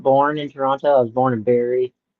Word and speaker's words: Toronto: I know that you're not like from Toronto because you pronounce the second T.